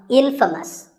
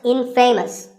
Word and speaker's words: infamous: you might just become infamous this word is the opposite of famous and it means famous for something bad but it's not pronounced in famous it's pronounced infamous all right i hope